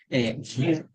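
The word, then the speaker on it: wer: Y ver, anglosajón antiguo, para los que saben anglosajón antiguo, ver, ver, la W se pronuncia como v, igual que actualmente en el alemán, ver, ¿qué significa?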